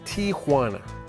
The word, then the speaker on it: Tijuana: While people popularly call it Tijuana, the real name is Tijuana. The J is actually pronounced like an H.